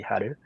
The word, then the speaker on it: Haru: So the release name is called Haru. In Japanese pronunciation, it will be Haru.